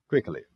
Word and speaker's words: quickly: Então, percebam que eu saí de quick adjetivo e montei o advérbio fazendo uma sílaba nova, porque o Y aqui tem som de i, uma vogal. Quickly.